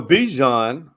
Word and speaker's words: Bijan: So Bijan rhymes with Dijon.